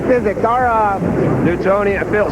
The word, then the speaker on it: Newtonian: that big that was a big word the Newtonian physics our uh Newtonian and Bill spell that word n-e-w-t-o-n-i-a-n oh like Newton yeah Sir